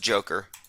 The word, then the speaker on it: Dzhokhar: Boston bomber Dzhokhar Tsarnaev, if I'm pronouncing that correctly, said that reading a It's pronounced Joker.